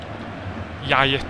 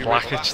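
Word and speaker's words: Ljajić: Yajic, he's just pronounced that. So I wasn't far off. Yajic. I said Lakic, didn't I? Nowhere near.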